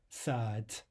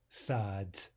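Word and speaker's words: сад: The word for garden is written with a final d, right, or d in English. We want to devoice that to a t or t in English. Sad, sad. Not sad, but sad, sad.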